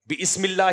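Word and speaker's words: بسم الله: का मुत अबे भाई ये अलिफ साइलेंट होता है यह बम का पहली किला का जो मदरसे का बच्चा होता है ना वह भी हंसेगा इस पर बिस्मिल्लाह रहमान रहीम थोड़ी होता है अलिफ साइलेंट हो जाता है जब शुरू में बा आ जाए तो कोई भी लफ्ज आ जाए तो तो मैंने किताब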